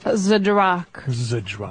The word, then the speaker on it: Zdrok: How do you pronounce this beautiful last name, by the way, ma'am? Zdrok.